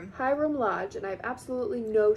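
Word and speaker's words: Hiram Lodge: Haram Lodge. Hyram. Hyram Lodge.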